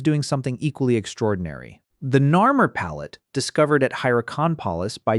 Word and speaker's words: Narmer: The signs do not mean catfish and chisel, they mean Nar and Mur.